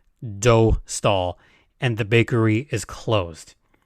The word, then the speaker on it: Dostal: catch you all up on why we say do stall and the bakery is closed so for those